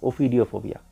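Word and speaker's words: ophidiophobia: मतलब कि सांपों से बहुत ज़्यादा उसका डर है, और इस डर को कहते हैं ओफिडियोफोबिया। OPHI, हाँ, ओफिडियोफोबिया, यही होगा उसका प्रोनाउंसिएशन।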